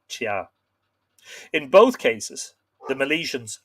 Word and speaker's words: Tea: rampart of tia now her name is is spelled t-e-a which you would be inclined to think of in terms of a cup of tea but in irish i'm pretty sure that would be pronounced chia in both cases the